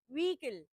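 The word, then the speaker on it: vehicle: बट the right one इज व्हीकल। Okay. ह is almost silent.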